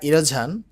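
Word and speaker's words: erosion: অর্থ হচ্ছে গবাদী পশু এসব ছিল মেহেরানের দা ইরোঝান ইরোঝান অর্থ হচ্ছে ভাঙ্গন অফ দা যমুনা যমুনার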